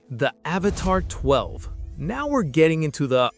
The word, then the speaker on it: 12: Number 3, the Avatr 12. Now we're getting into the "are we in the Matrix" territory. This is the Avatr 12, pronounced 1-2, and it is easily the most polarizing futuristic sedan on the planet.